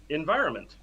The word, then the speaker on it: environment: Environment. Yeah. So it is very the trick similar. To that one is it's very similar. Yeah, the trick is just the N is kind of silent.